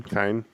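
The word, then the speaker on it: Cian: and cyan tormey team kind if it's irish that's a hard c usually yeah kind i thought this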